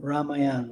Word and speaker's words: Ramayana: So sounds like it's a Ramayana. Ramayan Ramayan maybe in American English. Uh Ramayan probably. Yeah.